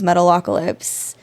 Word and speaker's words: Metalocalypse: I mean, it's a real band, but they're cartoon characters, and their show is Metalocalypse.